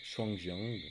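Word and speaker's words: Shuangjiang: des centres du givre en chinois prononcerons shangien mouvement qui vient stimuler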